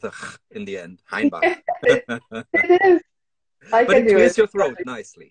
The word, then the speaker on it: Hainbach: And do I pronounce it right, Hainbach? Because you're German, Hainbach, right?